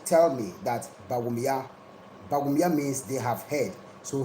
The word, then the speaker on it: Bawumia: But it is like in Dagbanle we say Bawumia, and in Mampusi they say Bawumia. You understand? It is the difference in the tonation, but we are all the same blood.